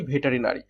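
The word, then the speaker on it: veterinary: Actually উচ্চারণটা কি, ভেটারি নারী, যার বাংলা অর্থ কি, পশু চিকিৎসা, পশু চিকিৎসা।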